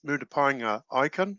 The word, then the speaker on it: Murupaenga Ikenn: gilda on the line we've got uh jeff moody pinea icon is did i correct um correctly pronounce that yep oh carpet so uh jeff